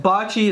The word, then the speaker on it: Baci: Well, Baci is like the sport.